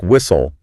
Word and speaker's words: whistle: So, if you look at a word like whistle, the literal instrument a referee blows during a match, the T is sitting right there near the end. But the pronunciation isn't W-H-I-S-T-L-E, it's W-H-I-S-L.